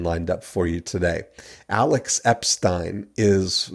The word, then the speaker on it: Alex Epstein: Alex Epstein? That's right. Perfect pronunciation.